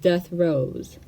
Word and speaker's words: DETHROEZ: Kaleidoscope was a unique title, and DETHROEZ followed suit. It is pronounced DETHROEZ.